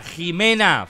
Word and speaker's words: Jimena: 24 Me podrías felicitar me llamo Jimena se pronuncia como con j Te quiero mucho gracias por toda Jimena con j Jimena felices 24 pasa un